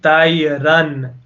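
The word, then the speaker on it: طَيْرًا: Tayran. We pronounce the N clearly, so you definitely know there is an N there.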